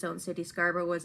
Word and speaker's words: Scarborough: And Scarborough, kind of like Edinburgh. Scarborough.